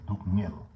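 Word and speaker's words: སྡུག་བསྔལ: covering the whole what in Tibetan what we want to say dukngel. Sort of like a duk, kind of like a what is the first syllable? Duk, like a dungel. There are two syllables, duk and ngel.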